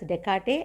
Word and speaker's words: Descartes: Okay, so here you have to pronounce this as Descartes, and this S and this S is silent, and this is named after the French mathematician.